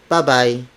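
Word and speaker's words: babay: The Filipino word would be bye-bye, bye-bye, bye-bye. It is spelled as B-A-B-A-Y.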